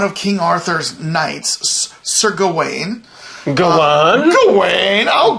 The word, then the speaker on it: Gawain: do call them a gowan i went and googled like the pronunciation and it is gawain so the director is